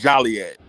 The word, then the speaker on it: Joliet: But okay, so is it Joliet or is it Joliet? It's Joliet. See, I say Joliet. It's Joliet. Is it Gyro or is it Gyro? It's Gyro. I call it Joliet.